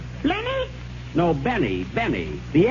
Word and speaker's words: Benny: Jack Flenny? Flenny? No, Benny. The L is silent.